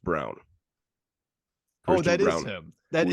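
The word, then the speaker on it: Braun: year is brawn it's spelled Brawn but it's pronounced Brown oh that is him that is first round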